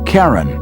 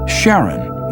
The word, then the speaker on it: Charon: christie suggested the name karen after the ferryman of Pluto's underworld in greek mythology but preferred to pronounce it sharon more like his wife's name charlene from the motions of pluto and charon astronomers could work out